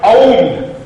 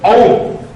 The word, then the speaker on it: ओम: ओम है क्या ओम का उच्चारण ओम ओम अकार पुकार और मकार से ओम बनता है।